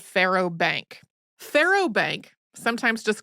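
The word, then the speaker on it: faro: Yeah, Pharaoh Bank is kind of interesting to me. It's spelled F A R O. It is meant to sound like Pharaoh, as in Egyptian Pharaoh, because apparently the French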